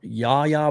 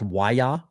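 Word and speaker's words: Yahya: If you kind of go Yaya Black, or it's actually pronounced Waya.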